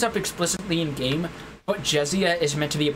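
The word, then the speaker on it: Jessiah: explicitly in game but jessia is meant to be a portmanteau of his name jesse and the word messiah okay i considered pronouncing it josiah but jessia sounds a bit more organic she says thank you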